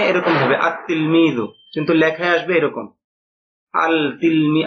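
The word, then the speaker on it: التلميذ: অনুযায়ী হওয়া উচিত ছিল আল তিলমিজু এরকম না বরং এটা সঠিক উচ্চারণ হবে উচ্চারণে এরকম হবে আতলমিজু কিন্তু লেখায় আসবে এরকম আলতিমি আতলমিজু মানে এখানে লামটা উচ্চারণ হবে না ব্যাস এই বিষয়টুকু আপনারা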